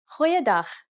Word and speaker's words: Goeiedag: Try pronouncing it from the back of your throat.